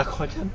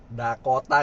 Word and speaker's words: Dakota: Saya beneran awalnya bacanya Dako Chan. Dakota guys, Dakota. Kok gue bacanya Dakochan anjir.